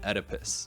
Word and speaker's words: Oedipus: The one thing this isn't giving is the O in Oedipus, because that O is silent, unlike the O that came out of my mouth when I first saw this.